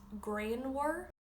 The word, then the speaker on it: grianmhar: Sunny is grain war.